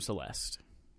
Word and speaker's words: Celeste: Play some Celeste. Rhymes with molest.